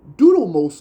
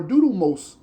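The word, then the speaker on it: Dudimose: The Pharaoh name was called Doodos or Doodos. It's almost sound like Moses, but D U D I M O S E asations at the dunamos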